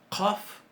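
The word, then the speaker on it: ق: Una se pronuncia con qaf y la otra se pronuncia con kaf. Una es qaf y la otra es kaf. No sé si notan que la pronunciación de esta es más atrás en la garganta, ¿verdad? Qa, qa, qa.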